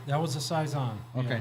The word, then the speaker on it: Saison: am I saying it right that was a size on okay not not a Phil Susan but a